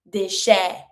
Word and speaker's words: déchet: It's the A sound. ET makes the A sound. Déchet.